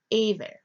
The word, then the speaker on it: Eber: term Hebrew stems from Eber or hammer Strong's age 5677 pronounces it as a ver they consonantal Biblical Hebrew